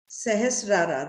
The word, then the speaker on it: सहस्रार: थोड़ा सा जो last crown chakra है, सहस्रारा, right? That's the way it is pronounced.